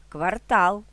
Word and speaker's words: квартал: фоль курятина дрова лате підсилено вимовляємо другий склад У лексемах новий цінник мережа квартал феномен середина фартух чорнослив